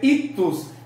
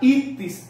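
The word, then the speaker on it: ichthys: como suena el griego, le hemos dicho a esta frase ictus, pero realmente es la palabra ictis.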